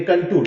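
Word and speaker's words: contour: नहीं, कंटूर, कंटूर, काउंटर नहीं बेटा, कंटूर।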